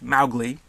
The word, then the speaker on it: Mowgli: continued mispronunciation of the name which should be pronounced Mowgli according to the original author because this movie